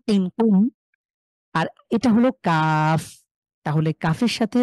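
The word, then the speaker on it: قاف: কফ উচ্চারণ করাকালীন আমরা দেখেছি আ আমাদের জিভের গোড়া তার তার উপরের তালুর সাথে লাগিয়ে ক, একটু ধাক্কা, ক, কি, কু।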